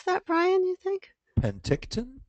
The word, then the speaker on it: Penticton: Sharon is from Sunny pent how do you pronounce that Brian you think Penticton Penticton British Columbia spring like Susan that's awesome beautiful